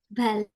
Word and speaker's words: ballet: Yang pertama yang ini sebenarnya bacanya itu ballet. Lay. Ballet. T-nya itu literally silent. That you don't mention the T.